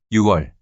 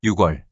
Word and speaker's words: 유월: / November / December Note that June and October are pronounced as '유월', '시월' not '육월', '십월' respectively.